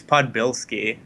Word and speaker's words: Podbielski: up your last name that's usually how people pronounce it it's podbilsky but uh podbilski